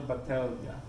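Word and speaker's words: Batlle: It's B-A-T-L-L-E. Yeah. It's Right. like, what am I saying? Mm. But they told me it was the Elia, the L's. Cellar. Cellar Battaglia.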